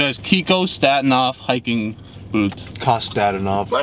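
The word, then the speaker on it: Kostadinov: Kostadinoff. My name is and I know how to pronounce my names.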